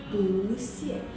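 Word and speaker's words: 不谢: ya teman-teman catat ya jadi pu hanya PU ya bukan huruf yang lain hanya pu ketika dia ketemu huruf kedua nada empat maka dia sendiri harus berubah jadi nada dua pusie karena kalau kita baca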